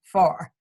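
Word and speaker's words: Pharr: Her name is spelled P as in Peter, H as in Harold, A-R-R. so you don't get confused looking for somebody whose name begins with an F. It's Suzanne Farr.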